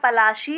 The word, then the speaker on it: पलाशी: तो प्लासी एक जगह का नाम है, तो प्लासी जगह का नाम प्लासी कैसे पड़ा इसके बारे में हमें देखना है। Plassey is an anglicised pronunciation of पलाशी एंड the place derived